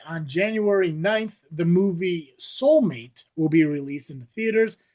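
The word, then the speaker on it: Soulm8te: Fun fact, the title is pronounced soulmate, and the eight connects it directly to the AI model numbering used for Megan, which has a three, not Becca, but Megan.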